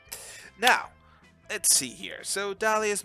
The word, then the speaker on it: Dahlia: So Dahlia's most mysterious and alluring trait is the silent H in her name.